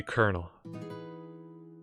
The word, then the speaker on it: colonel: call me colonel now that's not how you pronounce colonel early Oh me what what is that but that is not carnal hold on I got a Google phone now it is Colonel Wow that is I